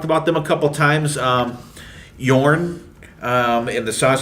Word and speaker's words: Jorn: It's Jorn, but it's pronounced Yorn. European pronunciation, how they jogging or do things there.